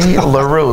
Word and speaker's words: L'Heureux: Yeah, there's a whole lot of vowels there that don't do much. In fact, it took me almost a second grade to be able to spell it. I mean, there's an X in there. There's an X in apostrophe. there that does nothing, but it's very French.